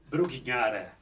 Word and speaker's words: Brugnara: Eu até, em reverência a você, em homenagem a você, eu gosto de pronunciar o seu nome da mesma maneira que os conterrâneos de Dante Alighieri pronuncia. É um prazer recebê-lo aqui, Brugnara.